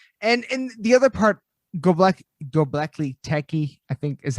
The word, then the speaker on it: Göbekli Tepe: Like and the other part, Göbekli Tepe, I think is how you say it, in Machu Picchu. Göbekli Tepe. Göbekli Tepe.